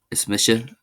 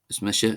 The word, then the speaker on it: is mise: My name is or is Misha is Mmisha in Gillik.